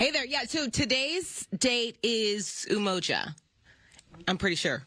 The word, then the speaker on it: Umoja: Yes, it's Umoja today, which is a celebration of unity.